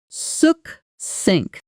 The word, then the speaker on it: succinct: Suk synink. The stress is on the second syllable.